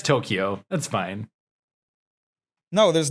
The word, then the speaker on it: Tokyo: mac tokyo yeah it's tokyo that's fine no there's no there's no key it's tokyo ah tomato tomato see when